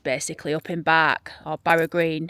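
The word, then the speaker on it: Barugh Green: He would go there in daytime to this church basically up in Bark or Barag Green. It's pronounced Bark Green though in Barnsley.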